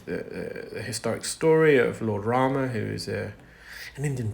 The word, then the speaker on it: Ram: Savory back for Lord Rama say Lord Rama but in Gujarati or Hindu we call it Ram I have to say